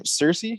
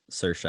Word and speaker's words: Saoirse: What's her name? Cersei? Is that how you pronounce it? Saoirse, I believe is. Saoirse. All right, I'll try to get that right.